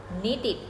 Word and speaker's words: needed: นึง นะ คะ ตรง ที่ เรา จะ มี การ ออก เสียง พยางค เพิ่ม ค่ะ ยก ตัว อย่าง verb ที่ ลง ท้าย ด้วย พยัญชนะ เหล่า นี้ นะ คะ want กับ need want เติม ed ปุ๊บ ออก เสียง ว่า wanted wanted need เติม ed ปุ๊บ ออก เสียง ว่า needed นิิ สรุป นะ คะ